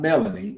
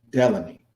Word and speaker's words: Delaney: It's not Melanie. It's Delaney.